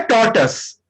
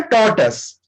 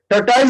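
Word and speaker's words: tortoise: सो almond, tiny, और ये है टॉर्टस, इसको हम लोग बोलते हैं टॉर्टस, टॉर्टाइज नहीं बोलेंगे, टॉर्टस, टॉर्टस।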